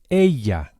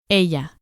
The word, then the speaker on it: ella: And the way to say she is ella. Ella. The Spanish double L is pronounced very similarly to an English Y with just a hint of J.